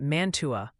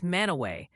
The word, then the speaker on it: Mantua: And the new fan favorite correction is that Mantua, poor dad. Ohio is Manaway.